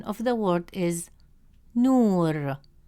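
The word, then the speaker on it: نور: As a result, the correct pronunciation of the word is nur, nur.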